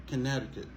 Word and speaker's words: Connecticut: pas dit connect encore pas dit connecti encor ok après on dit connecticut conneticut donc même pour parler